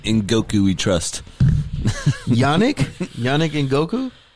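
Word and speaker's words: Ngakoue: Yannick Ngokwe? Ngakwe.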